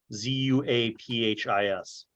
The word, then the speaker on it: Zuaphis: The Midlands are divided up into two kingdoms: Eimphis, Imfis, and Zuaphis, Zuaphis.